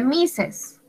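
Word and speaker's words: Mrs.: misas misas sra mrc ms señor y se pronuncia misses misas usamos misas on live for a maret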